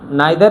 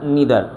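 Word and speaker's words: neither: आइदर या इधर, नाइदर या नीदर।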